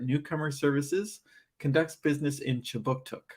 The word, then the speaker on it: Kjipuktuk: But before we begin, I'd like to acknowledge that Right Start Newcomer Services conducts business in Kjipuktuk, which is how you say Halifax in the Mi'kmaq language.